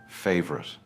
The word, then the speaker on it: favorite: First is favorite. It is not favourite. It is smooth, favorite.